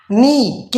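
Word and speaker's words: knock: के एन से पहले है नाइट में, न्यू में के एन से पहले साइलेंट कर दिया, नॉक में के एन से पहले है इसलिए साइलेंट कर दिया।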